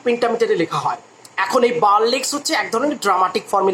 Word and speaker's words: burlesque: বার্লেস্ক বলে একটা কথা আছে, বার্লেস্ক, BURLESQUE। অনেকে সেটাকে উচ্চারণ করে বার্লেস্কিউ।